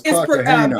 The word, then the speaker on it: Cartagena: It says Joseph Fat Joe Cartagena. Is that how you pronounce his name, y'all? No, it's Cartagena.